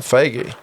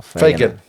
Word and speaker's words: Fagan: Owen Faggy. Good on you. Oh, Fagan. Fagan? Fagan. Did I say it right?